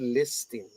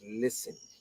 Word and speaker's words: listening: we don't pronounce well it's not listing it's listening the tea is solid